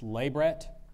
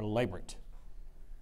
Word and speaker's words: labret: Latin derived English element it's pronounced labret or labrit and the sentence is